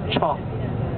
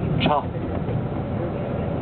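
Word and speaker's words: 茶: Et après, les Chinois du Nord, ils ne connaissent pas non plus, ils l'appellent cha. Cha. Cha. Hein? C-H-A, cha. Ça, c'est les deux prononciations en dialecte en Chine.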